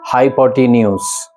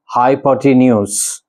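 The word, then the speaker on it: hypotenuse: इसको भी 90% लोग गलत ही प्रोनाउंस करते हैं। मैंने इवन टीचर्स को देखा है बहुत सारे। कोई हाइपोटेनस बोलता है, कोई हाइपोटेनस बोलता है। लेकिन इसका करेक्ट प्रोनाउंसिएशन है हाइपोटेन्यूस।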